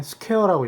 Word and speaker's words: SQ: 그리고 또 제일 중요한 게 이 전선의 굵기를 어떻게 표기를 하냐면은 이렇게 SQ라고 쓰고 이제 보통 현장에서 읽을 땐 스퀘어라고 읽거든요.